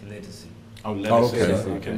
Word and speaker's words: Ledisi: while we're on the subject, and she corrected everyone the other day, her name is not pronounced Ledisi, it's pronounced Legacy.